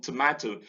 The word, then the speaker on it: tomato: And we have it in favor, in candor, in favor, in tomato. The O in tomato, the first O is weak, stress falls on MA, and so the schwa occurs in the weak unstressed syllable.